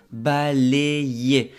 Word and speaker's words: balayer: La pronunciación aquí es balayer. La Y, como te expliqué en un video anterior, tiene la función de dos I.